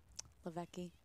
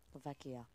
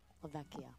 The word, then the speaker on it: Lavecchia: good step too bye laveki lavecchia lavecchia there you go there it is just had one more syllable to get through substitution for Duquesne